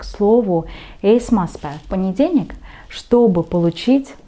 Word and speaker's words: esmaspäev: И поэтому вы слышите esmaspäev, esmaspäev, как бы буковка «э», да? Не esmaspäev, и ударение ставим на первый слог, и потом еще на слово päev.